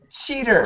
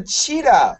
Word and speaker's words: cheetah: A yellow cheater. Cheater. A yellow cheater. Cheater? Cheater. Cheater. It's like a tiger. Like a tiger? Oh, no, that's a cheetah. A cheetah. C-H-E-E-T-A-H.